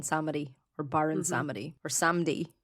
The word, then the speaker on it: Samedi: or Baron Samedi or Samdi, as practitioners seem to call him. Emily and I were talking about this before. I was saying I've been saying Samedi this whole time. Yeah. So that's how I pronounced it too.